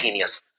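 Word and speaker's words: heinous: हीनियस की spelling है HEI और फिर लगता है नस, तो ही नस, लेकिन बोलते हैं हीनियस।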